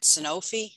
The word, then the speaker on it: Sanofi: I will say that, there's somebody at Sanofi. Is that how you say it? I always call it Genzyme. They're looking Sanofi.